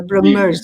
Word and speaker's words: Brahmers: Am I pronouncing it correctly, Badr? Brahmers.